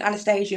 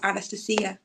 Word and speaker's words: Anastasia: And she goes, that's in Russian. It isn't Anastasia, it's Anastasia, and that's how it's pronounced.